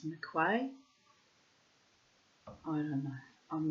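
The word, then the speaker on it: M'Quhae: Captain Peter McQuay, or McQuay, spelt M''Quhae. So I'm presuming it's McQuay.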